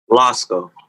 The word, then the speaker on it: Lásko: Lásko.